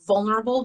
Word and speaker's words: vulnerable: stress positions right so when you say vulnerable the stress falls on the first syllable and then you say